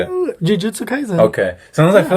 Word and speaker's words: Jujutsu Kaisen: Jujutsu Kaisen.